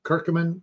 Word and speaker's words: curcumin: that's extracted from it called curcumin or kirkamin if you want to pronounce it that way and that my